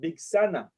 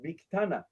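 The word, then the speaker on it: בגתנא: Ashkenazim, we would pronounce it Biksana. It's a Saf, not a Taf. But Sephardim would pronounce it Biktana.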